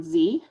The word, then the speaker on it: ze: would I do that, is the pronoun Z. So it's ZE.